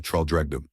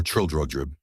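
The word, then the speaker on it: Traldragdubh: It contained a warrant for conducting me and my retinue to Traldregdub, or Trildrodrib, for it is pronounced both ways as near as I can remember, by a party of 10 horse.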